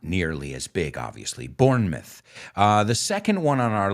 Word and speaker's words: Bournemouth: The British, they don't say Bournemouth. Aunque es la palabra mouth, lo pronuncian myth. Bournemouth, okay?